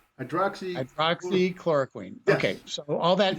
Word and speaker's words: Hydroxychloroquine: Hydroxychloroquine. Hydroxychloroquine.